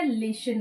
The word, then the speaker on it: listen: यूज करबे पिला माने लिसन वर्ड यूज करबे को word लिसन word eighty T silent रहे तो आमे कोन पढू लिसन पढू ना लिसन पढू ओके सो अटेंटिवली जतबे